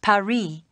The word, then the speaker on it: Paris: capital of france before yeah well the locals pronounce it paris carmen's conducted a lot of criminal activity here